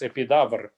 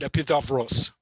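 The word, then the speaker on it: Επίδαυρος: and where the amphitheater, you said in Russian they would pronounce epidavr, so it's very similar to what you've said. My Greek friend used to call it epidavros. Epidavros. Okay, maybe yeah. The ending in Russian it's cut off.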